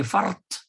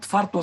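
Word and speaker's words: فرط: We say fart, not farto sauti or farti sauti or farta sauti, fart sauti, as if the prefix were part of the next word.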